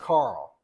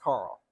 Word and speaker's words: Carol: but they pronounce it Carl and Bush corrected me on that even though it's spelled Carol it's pronounced Carl so Carl James Goodson